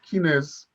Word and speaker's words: Kines: But a lot of people, when I came to this country, couldn't pronounce Kines with a Z sound at the name, which at the end of the name, which is what my grandfather gave me that name.